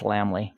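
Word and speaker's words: Lammle: And same thing for Todd Lamley. And that's how you pronounce Lamley, by the way.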